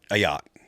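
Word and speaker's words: Ayotte: How do you pronounce that? Ayote. Yeah. Ayat. Ayat.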